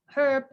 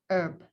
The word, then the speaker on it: herb: gitu ya, berarti oh cara bacanya ternyata ada bisa herb, bisa juga herb, di mana hanya tidak disebutkan gitu ya, atau di silent.